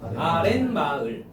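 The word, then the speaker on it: 아랫마을: 아래 플러스 마을이거든? 그래서 발음하면 어떻게 돼요? 아렌 마을. 렌. 니은 소리가 덧나잖아요.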